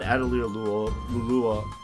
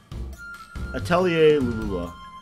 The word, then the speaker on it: Atelier Lulua: It's about it's based off the French word for alchemy.